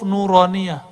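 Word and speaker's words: نورانية: ini disebut dengan huruf nuroniyah huruf-huruf Oh no roh Nia Hai makanya ribet tuh kita kasih nama Naura Nia bacanya nuroniyah Hai huruf-huruf cahaya Hai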